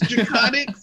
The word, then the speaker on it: Drakoniques: I've tripped over your name I know it's draconic but it's just spelled so uniquely that I'm